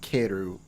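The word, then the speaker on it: Kaeru: time Karu kairu kairu it's pronounced keru because that's what they say in all of the animes when you hear the frogs ribbit okay it's all uh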